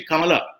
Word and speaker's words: Kamala: all that that is not the way we pronounce we say simply come along but if she became a kamala c with